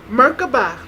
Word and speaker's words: Merkabah: powerful so I want to have it right Merkabah Mei ka ba and those are three letters I mean three syllables in ER ka and BA the cost